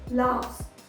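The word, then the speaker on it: laughs: फ, तो ये एक वॉइसलेस कॉन्सोनेंट है, इसीलिए जब हम इसके आगे एस लगाते हैं तो फाइनल एस को हम स की तरह प्रोनाउंस करते हैं। तो वर्ड को हम प्रोनाउंस करेंगे लाफ्स, लाफ्स।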